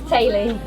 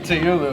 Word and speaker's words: Teulu: Well, we've been here this whole time and I've not known that this is pronounced in some Welsh impossible way. How is this set? Tay-Lee. Tay-Lee? Yeah. This whole time I'm calling it Teulu and they're You like, can no.